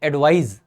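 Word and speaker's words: advise: सो वो उसको, वैसे इसके प्रोनाउंसिएशन में फर्क होता है, जब नाउन वाला ये वाला एडवाइस है इसको एडवाइस बोलते हैं, एडवाइस। जब वो वर्ब होती है तो हम बोलते हैं एडवाइज, एडवाइज, एडवाइज somebody and take एडवाइस, ठीक है, थोड़ा सा डिफरेंस होता है प्रोनाउंसिएशन में।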